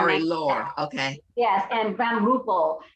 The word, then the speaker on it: Marie-Laure: Marie-Laure, that's how they pronounce her name. Marie-Laure.